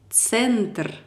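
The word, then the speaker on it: центр: Ce mot se lit comme centre.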